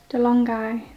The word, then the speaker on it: DeLonghi: So I got the DeLonghi, that's how you say it, Dedica.